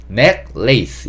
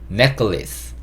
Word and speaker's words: necklace: 뒤에 L-A-C-E, lace 이게 우리가 이제 lace라고 얘기할 수 있는 건데 necklace 이렇게 발음하지 않고 necklace 이렇게 발음이 됩니다.